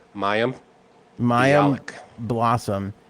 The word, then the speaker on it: Mayim: Mayim.